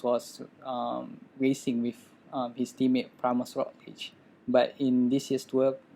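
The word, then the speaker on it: Primož Roglič: So Primož Roglic.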